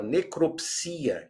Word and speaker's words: necropsia: Por outro lado, a palavra necropsia, que toda a vida existiu, veja lá, hoje nós temos necrópsia com acordo também.